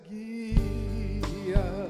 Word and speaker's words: Guía: Una G, una U, una I y una A, cuatro letras siempre en mi recuerdo. Su nombre es Guía.